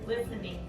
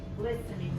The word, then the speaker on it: listening: Listening without the T, right? Listening.